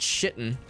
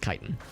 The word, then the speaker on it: chitin: As much as I want to call it shitten, pretty sure it's pronounced chitin.